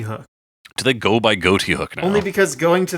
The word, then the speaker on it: Ghoti: Of course, I do believe it comes from the sort of joke pronunciation of Ghoti, as you could say this is fish because English is messed up,